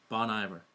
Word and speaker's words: Bon Iver: the band name although if you have a French background the name might make more sense at first glance the name originates from